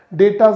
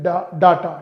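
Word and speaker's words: data: गलत बोलते हैं कते डाटा डाटा नहीं होता कहते मेरे फोन का मेरे फोन का डाटा खत्म हो गया डाटा नहीं होता डेटा होता है ए सेंटेंस नंबर एट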